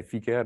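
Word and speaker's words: Vicair: And I say FICARE, maybe you understand FICARE better, but it's a Dutch company, so I pronounce it the Dutch way.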